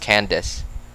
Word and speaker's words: Candace: the name Candace like ca and can and then d a not i d a c e but it's just pronounced Candace and that's why I read it as Candice I just like how you would read CA and d-i-c-e laughs oh man you know